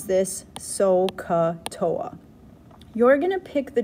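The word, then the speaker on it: SOHCAHTOA: You could pronounce this SO-CA-TOA.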